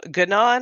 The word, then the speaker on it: Ganon: Um, Ganon has a hard G.